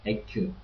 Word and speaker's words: Ecke: The CK is pronounced like a K, like a normal K, it's like Ecke, corner.